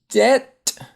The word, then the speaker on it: debt: Debt. And the B is silent in debt.